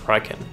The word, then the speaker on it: Raiken: Raiken, pronounced Raiken.